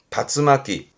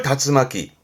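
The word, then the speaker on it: 竜巻: 그래서 발음이 다츠마키. 용권이라 함은 요런 그림 보시면 그렇죠. 회오리 바람, 뭐 미국의 그 토네이도 같은 거 그거를 다츠마키.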